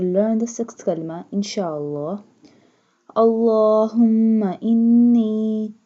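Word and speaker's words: اللَّهُمَّ: Allahumma inni, stretch the lam because standing fatha is on the lam.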